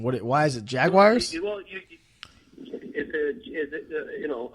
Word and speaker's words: Jaguar: Boston accent coming through it's a jaguar a wire WI yeah Jay Jay AG WI re Jaguar oh that's not the name on the jersey well that's how it's pronounced jaguar jaguar now here's